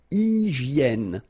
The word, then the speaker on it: hygiène: So remember we've got this Y here, vowel, and it's pronounced like E. E, okay? Hygiène. H doesn't exist, H doesn't exist in French, so hygiène.